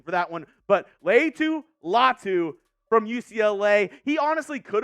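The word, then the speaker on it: Laiatu Latu: call gonna call him lot say that again Leu latu U producer extraordinaire Cullen on the ones and twos giving me the pronunciation for that one but Leu latu from UCLA he honestly could have been one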